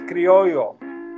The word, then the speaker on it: criollo: In Spanish, the word is pronounced criollo or criolla.